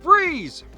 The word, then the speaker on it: Fries: Also, we eventually learned that the character's real name is Victor Freeze, spelled F-R-I-E-S like fries, but it's pronounced Freeze.